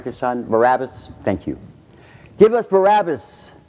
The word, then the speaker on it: Barabbas: Barabbas?